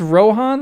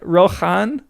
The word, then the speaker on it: Rohan: This sound was weakened to H in the speech of Gondor and that change has been recognized in a few names. Wait, is he saying you you pronounce Rohan like Rohan Rohirim? The ch is No, the opposite. Okay. So, Rohan should just be Rohan because it Okay. Wait, he means it used to be Rohan.